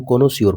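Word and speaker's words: connoisseur: कोनाइजर होता है, लेकिन हम कोनोसियोर पढ़ते हैं।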